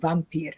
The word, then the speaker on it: vampir: something that is called vampire and I'm gonna pronounce it directly vampir is uh uh something